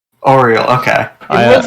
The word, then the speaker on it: Auril: name is supposed to be pronounced O-Real. Oriel. Okay. It looks like it's pronounced I think. Auril. But I keep pronouncing it Auril. Like, Ariel.